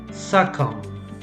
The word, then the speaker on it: succumb: them so for example succumb second so notice the b is silent yeah architect the age